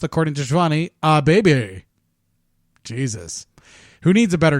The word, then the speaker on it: Kip Abee: This is another Power Plant alumni in Kip Abee, actually pronounced, according to Shivani, Abee.